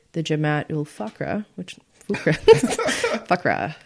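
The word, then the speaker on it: Fuqra: State Department describes FUCRA, aka the Jamaat ul Fakra, which Fakra. Fakra, that's good.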